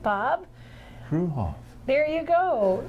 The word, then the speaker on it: Fruehauf: Fruehauf. You pronounced it right, Bob. Fruehauf.